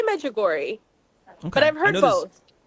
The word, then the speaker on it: Medjugorje: And today we'll be talking about Medjugorje and the Vatican's doctrinal office on last Thursday, kind of endorsing the devotion to Mary at the popular pilgrimage site in Bosnia.